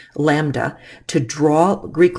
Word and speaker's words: lambda: Wavelength is usually abbreviated with the Greek letter lambda, and that's how you say it, lambda.